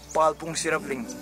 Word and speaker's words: Palpung Sherabling: I don't know how to pronounce it, but वो monastery का क्या नाम है? Palpung Sherabling. Parpung Sherabling Monastery.